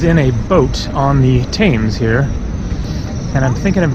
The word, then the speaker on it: Thames: Do you know how to, is it Thames? How you say it? Thames. Thames, okay, cool, thanks.